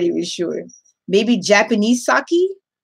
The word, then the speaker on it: sake: Yes, it is a drink pronounced sake.